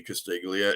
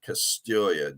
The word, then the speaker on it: Castiglia: started hey albert castilla not to be confused with albert castiglia even though his name should be castiglia it's c-a-s-t-i-g-l-i-a he pronounces it castilia dammit he's got a